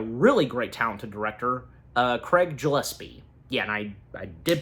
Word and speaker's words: Gillespie: And on account that Supergirl being directed by a really great, talented director, Craig Gillespie. Yeah, and I did pronounce his that is how his last name is specifically pronounced.